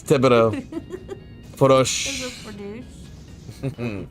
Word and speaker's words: Thibodeau: No, no one says that. Everyone says Thibodeau. Ah, see? Look, that Cajun coming out, huh? Hey. It's Thibodeau.